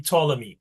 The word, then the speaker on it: Ptolemy: When you see P and T like that, it's just pronounced with the second letter only. The P is silent. So that would be Ptolemy, okay?